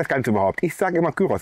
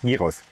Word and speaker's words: Gyros: I always say Güros instead of Giros, and I've been told that many times. So I thought, okay, I'll make three videos on the topic of Giros. Although I'll try to pronounce the word correctly.